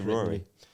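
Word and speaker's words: Ruaridh: I don't know how you say his name. I think you say Rory. Rory. It's a Scottish name or something.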